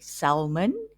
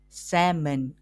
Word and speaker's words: salmon: We do not say salmon. We pronounce the word salmon. The correct way is salmon, a type of fish. When we pronounce the word, the L is silent.